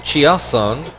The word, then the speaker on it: Chiasson: Well, they pronounce it Chiasson, so I guess that's what we got to go with.